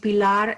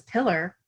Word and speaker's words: Pilar: chile fleeing the coup they're named pilar and enrique the tsa officer can't pronounce their names and he says pillar your name is pillar and she's just like